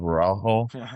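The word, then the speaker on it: Araújo: Yeah, well, I just want to say, Eric, I'm impressed by your pronunciation of Araujo. You even try to roll the R like the semi R, even though he's Brazilian, not Mexican, but I like it.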